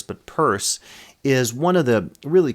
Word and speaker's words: Peirce: And Charles Sanders Peirce, it's not pronounced Pierce, but Peirce, is one of the really key founders of